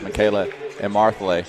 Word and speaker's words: Michaela Emarthle: And I believe that is pronounced Michaela Emarthle. Emarthle.